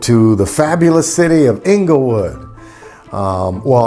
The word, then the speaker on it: Inglewood: the fabulous city of inglewood um well i'm supposed to say it like this inglewood that's where we moved